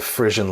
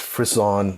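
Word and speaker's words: frisson: we calling it the Frisian lab I know it's pronounced frizz on but I don't like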